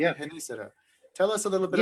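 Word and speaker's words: Genízaro: It's called Genisaro, all right? Am I pronouncing Uh-huh. it correctly? Yeah, Genisaro.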